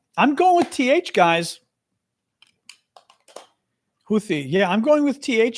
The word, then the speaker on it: Houthi: Although that Arabic speaker from Saudi Arabia clearly was saying what sounds like a th in English.